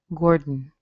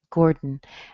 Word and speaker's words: Gordon: In the case of Gordon, all I do is I switch from the sound in my mouth to the sound in my nose, because an N comes from your nose.